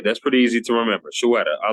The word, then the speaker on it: Shweta: Is it Shweta? It's Shweta. Shweta. Okay, Shweta. Yeah, My, I always like to tell people it's like Shweta, like a sweater. oh, okay. That's pretty easy to remember. Shweta.